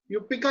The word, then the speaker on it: यूपिका: मेरा नाम यूपिका है, यूपिका, बोला सही बोला था मैंने।